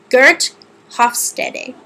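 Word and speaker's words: Geert Hofstede: So Gert Hofstede is, I believe, how you pronounce his name.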